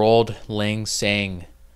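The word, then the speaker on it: Auld Lang Syne: For old lang syne. For old lang syne. That's how it's said.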